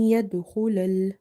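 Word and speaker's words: يَدْخُلَ: Dal is from the Qalqala or the bouncing letters, but here we have weak Qalqala. Kha is from the heavy letters, so the sound of kha is heavy.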